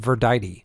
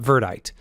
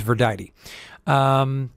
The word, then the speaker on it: Verdite: I did learn that it is pronounced Verdite, apparently, not Verdite, but apparently, according to the lore, it is Verdite.